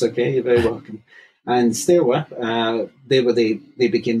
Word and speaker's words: Steaua: over the years have pronounced pronounced it Steaua which is how it reads to us in English s t e s t e a u a. And I think that's that's stuck. But the actual pronunciation in in Romanian is Steaua Bucharest because apparently Steaua, if